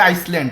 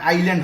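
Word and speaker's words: island: অনেকে বলে আইসল্যান্ড। আইসল্যান্ড না এখানে আইল্যান্ড হবে আইল্যান্ড মানে দ্বীপ আইল্যান্ড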